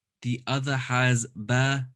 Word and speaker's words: ب: the first one up is ba between the two lips pressing the lips together ba good next one